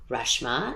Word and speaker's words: Reshma: irritated to be like reshma it's a freshman without the f and the n uh but you know